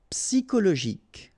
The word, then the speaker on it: psychologique: Okay, remember at the end you've got this K. Okay, so ic, and then Y is pronounced like I. Psy. And then it's an exception here because normally we should pronounce it chaud, okay, but then we pronounce it co.